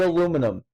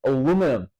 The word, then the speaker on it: aluminum: about it is that the way that it's spelt in Europe and everything else is said as aluminium, but the way it's spelt in America is literally how you would say as aluminum.